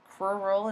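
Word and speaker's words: crural: then the coral region cruel rule is how you say that that's the leg region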